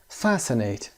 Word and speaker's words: fascinate: Fascinate تلفظ fascinate استرس هم روی fast fascinate به معنی to attract